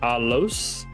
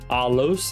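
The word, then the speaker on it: ἄλλος: it's Alpha Lambda Lambda alicron Sigma which is alos alos and this means another boom right there another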